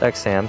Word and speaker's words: Exharm: Exharm, even though it's spelled Exharm, his name is pronounced Exham, so I'll keep calling him Exham.